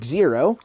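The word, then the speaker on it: Xero: with this little guy the zero that's how you pronounce it and you literally just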